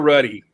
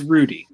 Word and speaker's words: Rudy: the last day is it rudy or ruddy it's rudy yay you get it